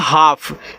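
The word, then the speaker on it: half: इसको पढ़ते हैं हाफ जब एल के बाद एफ आ जाए यानी कि ए तो होगा लेकिन एल के बाद एफ आ जाए तो यहां एल भी आपका साइलेंट रहेगा एल के बाद के आए तो आपका एल साइलेंट रहेगा एल के बाद एम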